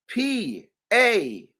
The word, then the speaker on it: parens: Parents, it's spelled, and write this down, please. Parens.